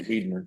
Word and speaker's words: Weidner: It's on Weidner Road. I could get the address for you right now if you would like me to. No, you said School of Science and Technology on Weiner Road? Weidner. Yes.